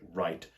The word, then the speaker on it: write: The words that I can think of are, for example, right, R-I-G-H-T, which is pronounced exactly the same as the word write, W-R-I-T-E.